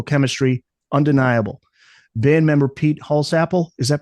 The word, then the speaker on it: Holsapple: yet the musical chemistry undeniable band member Pete holsapple is that pronounced correctly Peter holapp holapp Likens the band to a quote locomotive